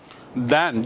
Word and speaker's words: than: दैन, जब तुलना करना हो तब THAN आएगा, दैन, उच्चारण भी दैन है।